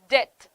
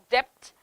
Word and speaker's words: debt: receipt buffet and bokeh these are the words this is how we pronounce it in english but what happens is when you speak it in in malayalam uh automatically you start pronouncing all the letters we start saying honest